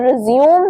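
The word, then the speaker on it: résumé: बट जब आप इसकी प्रोनंसिएशन रिज्यूे रिज्यूे बना देते हो तो तब इसका मतलब बन जाता है कोई डॉक्यूमेंट जिसके जिसमें आपका सारा बायोडेटा है। ठीक है? सारा बैकग्राउंड है आपका। आपकी क्लास सॉरी आपकी क्वालिफिकेशन है। ठीक है? सो तब आप बोलोगे रेज्यूमे।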